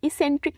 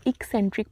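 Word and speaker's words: eccentric: है एक सेंट िक इस सेंट्रिक नहीं इसको प्रोनाउंस करेंगे हम एक सेंट्रिक प्रोनाउंस करेंगे ई डबल सी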